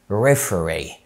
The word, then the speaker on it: referee: أولا لو عندك اتنين E جايين ورا بعض في آخر الكلمة، زي مثلا كلمة referee حكم، referee ساعتها ننطق ال E، decree decree مرسوم اوكي او قانون.